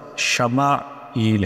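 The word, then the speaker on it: ישמעאל: یہ نام رکھا گیا۔ عبرانی میں اس کا تلفظ شمائیل ہے۔ وادی غیری ذی زرع اور حاجرہ و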